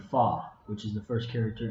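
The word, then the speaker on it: 发: And she talks about how the pronunciation for the word 8 or ba sounds like the word fa, which is the first character in the words of fazan, development, and fakai, to become wealthy.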